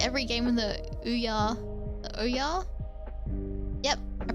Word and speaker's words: Ouya: I think every game with the Ouya Oya, Yep, I pronounced that correctly.